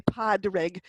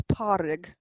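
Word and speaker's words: Pádraig: Vic, Padrig, Parig, sorry, you don't pronounce the D in the middle of Padrig. You don't say Padrig, it's Parig.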